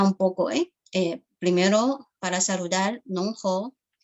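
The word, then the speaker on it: 侬好: Por ejemplo, ni hao es en chino mandarín, pero en shanghainés sería nong hou. Nong hou es la pronunciación de shanghainés para saludar.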